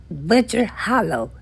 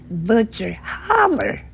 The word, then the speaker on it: Butcher Hollow: More specifically, she grew up in an unincorporated community called Butcher Hollow. That is how it is supposed to be pronounced. But the locals called it Butcher Holler.